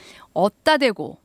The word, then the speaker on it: 얻다 대고: 어디에다 대고 이게 이제 줄어들어서 어따 대고 하다 보니까 발음은 어따 대고가 되는데 쓸 때는 어에다 디귿 받침 어따 대고 이렇게 쓰면 됩니다.